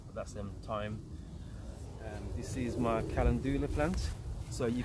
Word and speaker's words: calendula: This is my calendula plant. So you How do you pronounce that again?